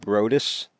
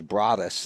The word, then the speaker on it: Broadus: We come over here and they announce him as Broadus, and I looked at his dad. I said, Broadus? He said, yeah, that's how it's pronounced.